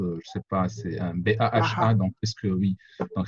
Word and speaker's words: Baha: Bon, d'abord, je m'appelle Baha, ça se prononce, je ne sais pas, c'est un B-A-H-A, Baha.